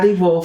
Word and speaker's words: Wolf: It's Wolf. Do I pronounce it right? Right. Yes. Okay. Maybe Germans will say F or whatever.